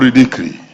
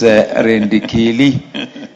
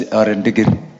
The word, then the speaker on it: Rendikili: Honorable Ridikri. I think that's the English version of your name. The correct pronunciation is Rendikili and traditional is Rendigiri.